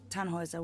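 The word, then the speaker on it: Tannhäuser: why what's your name Tannhauser we pronounce it tan Wazza with an umlaut German roots yes my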